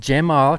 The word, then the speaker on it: Cemal: And then Cemal Knudsen, the C is pronounced like a J, he just told me. Cemal Knudsen.